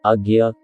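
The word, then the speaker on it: आज्ञा: अजना शब्द, जिसका उच्चारण अज्ञ होता है, का संस्कृत में अर्थ है सर्वप्रमुख, और यह हमारी चेतना, अंतर्ज्ञान और धारणा का सबसे प्रमुख केंद्र है।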